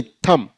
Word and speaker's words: thumb: ऐसे THUMB, थंब नहीं थम।